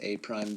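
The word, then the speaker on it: A′: And so we pronounce this A prime, B prime, and C prime.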